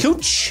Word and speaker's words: Couch: Same with Couch Street. Yep. It's not it. It's a name. It's pronounced differently. Cooch.